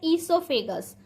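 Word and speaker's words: oesophagus: Third है ईसोफेगस। यहाँ पर ओ साइलेंट है, हम पहले भी बता चुके हैं।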